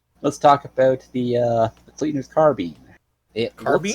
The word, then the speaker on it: carbine: It is based off the French word carabine. So technically you'd be right.